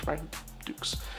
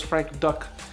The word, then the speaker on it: Frank Dux: It's supposed to be just Frank Dukes. When I was a kid, I thought it was Frank Duck.